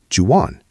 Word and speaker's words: do you want: But in American English, do you want is the ultimate linking phrase. It gets crushed together. Do you becomes j want loses the t because of the next word. So do you want becomes jan? Jan.